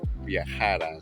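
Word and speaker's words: viajara: Viajar versus viajar. First one is, you will travel. Second pronunciation is when you want to express past unreal situations, hypothetical situations, wishes, desires, otherwise known as the subjunctive form. So, the accent mark is really important.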